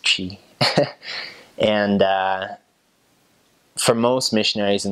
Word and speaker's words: Twi: It's called Twi, Twi, but it's pronounced Chi.